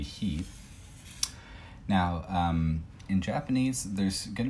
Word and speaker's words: 日: Now, so Nichi by itself, not Frederick. This is going to be much sunnier than Frederick Nichi. So by itself it'll be Nichi, and then in compounds it'll be he.